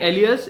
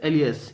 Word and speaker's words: alias: now what is this Elias but I'm saying Elias it actually means also known by and this is an adverb whose pronunciation is Elias its Elias okay Elias now this is something